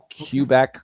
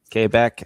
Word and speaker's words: Quebec: They pronounce it like it's a K. I I just find that amusing, so I do it. It's hilarious. Yeah. Cubec, Quebec, Quebec as they say.